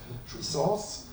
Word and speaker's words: jouissance: So I should have written it, but I will spell it for you. Jouissance, G-O-U-I-S-S-A-N-C-E, roughly translated by enjoyment, maybe lazat in Urdu?